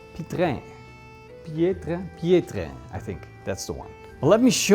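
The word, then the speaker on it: Piétrain: Let me show you a picture of what a true authentic Pietrain Pietrain Pi- Pietrain This is the French style of pronunciation. Pietrain.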